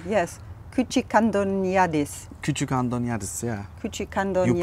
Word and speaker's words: Küçükandoniadis: Küçükandoniadis, Küçükandoniadis. You pronounce really good.